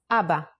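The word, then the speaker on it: אבא: already write a word in Hebrew this is Abba ABBA in Hebrew means father it is the first word every Israeli baby says these are the simplest phonetic sounds try it out Abba in handwriting and now the print style ABBA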